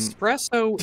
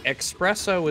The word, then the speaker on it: espresso: someone went like yeah with my accent espresso is the drink expresso is what you call italians talking oh like espresso okay